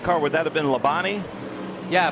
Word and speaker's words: Labonte: would that have been lebani yeah Bobby Labonte Bobby Labonte you say Levante we're a NASCAR country I gotta try to make three syllables one syllable I know T's right